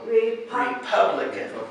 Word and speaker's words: Republican: together yeah democratic now this one read re is the first syllable he has four syllables and this is where the emphasis is Republican repellent that's right so those are democratic has four syllables Republican does too yeah yeah Democratic and